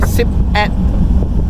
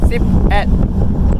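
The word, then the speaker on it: สิบเอ็ด: Yes, so if you want to say 11, it'll be Sip at. S-I-P-E-T. Sip at.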